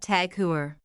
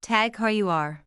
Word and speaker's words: TAG Heuer: Not Tag Heuer. Correct is Tag Heuer.